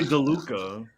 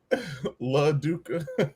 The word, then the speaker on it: LaDuca: I always say DeLuca. LaDuca. You do reverse the syllable? Yeah. Like I thought it was Lucy DeLuca for a long time.